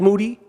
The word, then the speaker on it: Moody: of the year uh his name is Gerald Moody last name rhymes with Duty um and uh we're